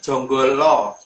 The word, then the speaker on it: Janggala: Lebih tepatnya Jonggolo. Jadi Jonggolo. Jadi dari dalam penulisan Janggala itu huruf A itu kalau orang Jawa bacanya O.